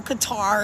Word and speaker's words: Qatar: I had somebody join me that was in Qatar, or Qatar, as we Americans say.